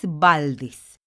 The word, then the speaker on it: Valdés: escribe con s valdez valdez la sílaba tónica se encuentra en des en la última sílaba y termina en s